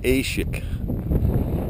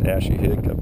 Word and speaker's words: Aishihik: the old control tower at the airfield at ASIC that's how it's pronounced it's not pronounced Ashley hiccup incorrect several times when you come that way